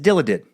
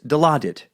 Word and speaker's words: Dilaudid: You pronounced it as Dilaudid. It's Dilaudid.